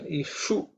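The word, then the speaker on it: इषु: We can, in terms of pronunciation, ishu, I think we have looked at it. The ishu is again cerebral sha. Tongue should be raised up.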